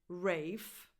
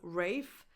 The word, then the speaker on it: Ralph: the same spelling, but there's this English version where you pronounce it Rafe. So he pronounces his own name Rafe, but no one outside his family pronounces it that way.